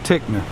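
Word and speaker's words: Ticknor: So not sure which one is which one is right, but either way you pronounce it Tickner.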